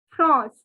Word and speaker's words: France: as you can see only the pronunciation is france france so france is pronounced as okay the n has a nasal sound france okay now if